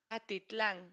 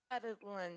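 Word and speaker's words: Atitlán: Atitlan. I will write it. How was it in English? Attic land? Atalan? I think it's didn't you send it? It's like Lake Atalan. Atitlan.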